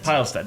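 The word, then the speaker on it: Pilestedt: I pronounce that pile pilest yeah I'm like a pile so anyways I'm the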